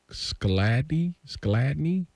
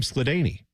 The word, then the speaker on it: Skladany: No, our longest field goal in history is 59 yards, and that's from Tom Skladny? Tom Skladany. I believe is how you say that, yeah.